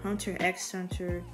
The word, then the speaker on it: Hunter x Hunter: for my next plant video hunter hunter or hunter x hunter depending on how you want to pronounce it so i thought that maybe i